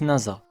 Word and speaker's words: Nasa: nasa un collégien studieux s'écrit avec le camp dit de nuit étoilée mais il se prononce nasa pour ne plus que